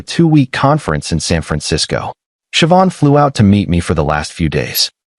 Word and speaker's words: Siobhan: Her name was Siobhan, pronounced as Siobhan. She taught me after I butchered it three times.